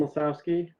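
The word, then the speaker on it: Lisowski: pick it up okay all right uh mr lazowski can you say your name for the court reporter yes lesowski and uh oh you can spell it if you'd like l-i-s-o-w-s-k-i thank you and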